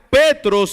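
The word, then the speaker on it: Πέτρος: le dijo que significa Pedro en griego se pronuncia petros y significa un pequeño tro de roca eso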